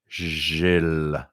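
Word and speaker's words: Gilles: it so everybody together Jill I just heard like tens of voices ha ha ha so Jill is how you pronounce my name it's a French name because I am you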